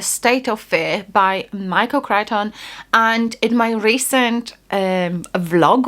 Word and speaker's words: Crichton: Michael Crichton, State of Fear.